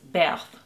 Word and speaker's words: Berthe: french impressionist painter and the way you say her name in french is beth but i'm going to say birth because i'm american and